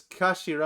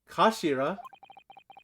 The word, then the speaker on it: kashira: end of the hilt it's written as the head in Japanese but it's pronounced as Kashira I believe Kashira so Mr ahok's words